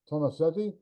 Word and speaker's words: Tomassetti: story um so I'd like to welcome germano Tomasetti uh to the show I hope I said